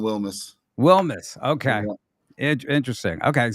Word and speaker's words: Wilms: Speaking of talent and talented teams, we are joined right now by Blue Springs head coach Wilms. Right? Am I pronounce that right, Coach? Close is Wilmus.